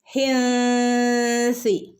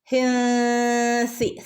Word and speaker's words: حنث: എങ്ങനെ ഓതും, ഹിൻസി, ഹിൻസി. സൻ്റെ ഉച്ചാരണം നമ്മൾ പറഞ്ഞതാണല്ലേ. സി എന്നുള്ളതല്ല, സി കാറ്റ് പോകുന്ന രൂപത്തിൽ വേണം സനെ ഉച്ചരിക്കാനായിട്ട്. ഓക്കെ, ഹിൻസിൽ, ഹിൻസിൽ അളീം, അളീം അയിനാണ് തൊണ്ടേൻ്റെ നടുക്കുന്ന് വരണം കേട്ടോ.